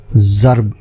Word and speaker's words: ضرب: اور لفظ لیے، اور آج کا لفظ ہے ضرب، جو درست ہے مستعمل ضرب ہے جو غلط ہے۔ حالانکہ یہ بھی